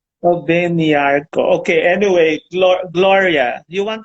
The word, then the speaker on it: Obengnyarko: Obengnyarko. Am I right in pronouncing the whole name? yeah, that's all. Okay. Nyako. Obengnyarko.